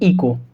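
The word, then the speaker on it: echo: तो ये हो जाएगा आवर और ये हो जाएगा इको।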